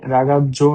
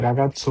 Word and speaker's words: ragazzo: এখানে রাগাজ্জো না হয়ে রাগাচ্ছো হওয়ার পিছে কারণ হচ্ছে যদি কোনো ওয়ার্ডের মাঝখানে দুইটা যেটা একসাথে থাকে তাহলে সামনেরটার উচ্চারণ হবে টি, পরেরটার উচ্চারণ হবে এস এ।